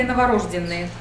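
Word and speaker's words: новорождённые: Ударение всегда на ё, но можно сказать и кто знает, что тут пишется ё. Оно же не указывается, над буквой ё точечки не ставим.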